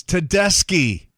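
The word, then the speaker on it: Tedeschi: It's like, "It's Ratliff. Here's the new one from Tedeshi Trucks. It's Tedeski." Yeah, we're cool.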